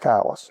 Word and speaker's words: Calais: Spelled Calais, pronounced Calais.